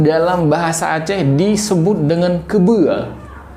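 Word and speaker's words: keubeu: Kemudian untuk kerbau ya itu dalam bahasa Aceh disebut dengan kebua. Kebua ya. Kerbau bahasa Aceh adalah kebua. Itu ejaannya K E U B E U.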